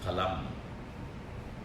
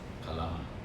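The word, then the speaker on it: फलम्: We Indians do that because it is a labial pronunciation. When it becomes father, it is semi-labial. It is dental and labial. Father. You see? The air will rub against the teeth and the lips.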